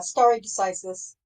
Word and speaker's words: stare decisis: Is that how you say it? Yeah, yeah, stare decisis.